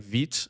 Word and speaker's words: Vite: There's other ones like Vite. A Vite dev server is 5173. And yes, you pronounce it Vite, not Vite. Vite is French.